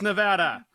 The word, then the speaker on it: Nevada: It's pronounced Nevada. Tag out everybody.